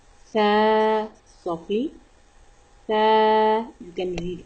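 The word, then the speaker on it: ث: The letter of Sa pronounced from tip of the tongue and tip of the front two teeth. Sa. Sa.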